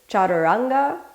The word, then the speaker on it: chaturanga: the whole body let's start off with the pronunciation repeat after me chaturanga foreign position or fourth position as the traditional